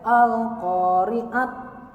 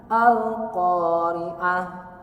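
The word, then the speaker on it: القارعة: Jangan sampai al-qari'at, mal-qari'at. Hindari itu. Dibacanya al-qari'ah, mal-qari'ah.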